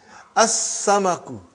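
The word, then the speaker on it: السمك: As-samaku, fish.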